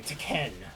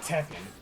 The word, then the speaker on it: Tekken: Or, excuse me, Tekken. That's how you're supposed to pronounce it. Not Tekken.